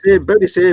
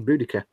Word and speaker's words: Boudica: No, Bodicea was what you were taught at school, but that was never the correct pronunciation. It's actually Boudica.